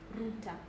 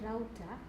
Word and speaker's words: router: So the first first pronunciation routter is for the British English and then router is commonly used in American English.